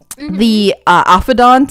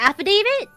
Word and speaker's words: affidavit: Affidont, isn't it affidont? AFFIVIDANT. Affidont. It's like the police report. Oh, the affidavit. Oh, affidavit. Fuck yeah, that one. I said it wrong the first time too.